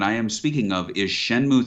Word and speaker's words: Shenmue: he's like no no you're doing shen muy tui and three and i said i don't think it's pronounced that way and he was like i will tell you how shenmue is pronounced it sounds like banjo-kazooie it's from you suzuki